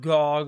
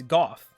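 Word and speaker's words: Gough: clums got the idea it's golf like it's it's not go it's not like gog or whatever it's goth it's hawkeye golf he says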